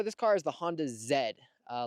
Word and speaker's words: Z: car is the Honda Zed uh like the British pronunciation for the letter z i think that's awesome but I just call it the Z because I think it's